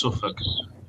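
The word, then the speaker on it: Suffolk: might mean Virginia South world piia is in suuk which is it's spelled it's like it's a bit like noruk but but it's instead it's suffk but it's spelled strangely wow that's crazy Northern edge of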